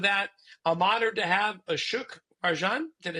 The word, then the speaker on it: Ashok Rajan: But to help us out with that, I'm honored to have Ashok Rajan.